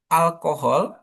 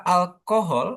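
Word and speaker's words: alcohol: Kenapa kok bisa alkohol atau alkohol? Jadi bisa konya ya. bisa call sama bisa bisa hol. Jadi bisa antara tengah sama yang belakang. Karena ini kan bahasa ini, Pak ya diambil dari bahasa Arab, Pak ya.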